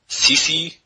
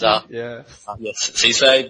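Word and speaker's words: Cissé: I think most people might recall the mispronouncing of certain players' names, such as Johan Kebab and Sisi, who's Cisse.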